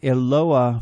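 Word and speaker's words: Eloah: each of these languages in Aramaic it is Ayla in Arabic it is Allah and in Hebrew it is eloa from which we get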